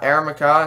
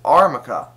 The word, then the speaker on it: Armaca: actually i pronounce it it's not aramaica it's not a a maca it's armaca yes it is based off